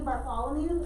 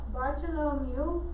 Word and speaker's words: Bartolomeu: So, Bartolomeu Diaz, they used to pronounce his name Bartholomew, so I always learned it up. They changed up the spelling and pronunciation a little bit. So, Bartolomeu is how they say it now.